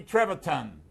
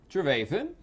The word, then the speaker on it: Trevathan: my son's TV show we talked to Danny Trevathan keep the other we gonna make another baby papi I'm not John eNOS on the beach today is Donnie Trevorton Trevathan he is a Super Bowl champion he is